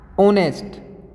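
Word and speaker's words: honest: ठीक है correct article he इज डॉट ऑनेस्ट नॉट ए होनेस्ट होनेस्ट आप लिखने में एच क्योंकि एच क्या होता है आपका साइलेंट रहता है तो ओ साउंड से सिमिलर है तो आप यहां पर क्या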